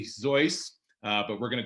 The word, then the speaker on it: Seuss: to mispronounce it as soos uh in the good german manner it's actually zoice uh but we're going